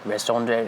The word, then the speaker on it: raison d'être: Okay, so the whole, how do you pronounce that thing in French? Like raison d'être or whatever. It's like RAISOND. It's raison d'être.